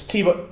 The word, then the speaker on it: Thibault: Is it a silent T in his first name? Who are we on about, Ron? Dimitri or Thibault? It's Thibault, or as far as we know, it's Thibault Tricol.